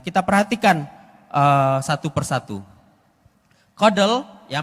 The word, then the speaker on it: CoDel: ada cake Nah kita perhatikan eh satu persatu Kodel ya pengucapannya adalah Kodel itu menggunakan algoritma yang baru